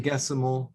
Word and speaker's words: sexagesimal: And then like yeah, I'm just thinking our time is based on the sexagemal, or how do you say that word? So I call it 60, the power of 60. sexagesimal.